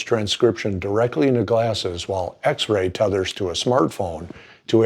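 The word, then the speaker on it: Xrai: Two companies, X-Ray, that's spelled X-R-A-I, and Xander, that's X-A-N-D-E-R, have developed live transcription software for smart glasses.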